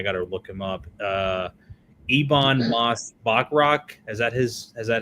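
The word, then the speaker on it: Ebon Moss-Bachrach: Ebon Moss Bachrach.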